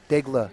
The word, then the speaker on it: Daigle: Daigle is the proper pronunciation.